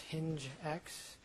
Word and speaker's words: HingX: It's pronounced hinge x even though it's hingx.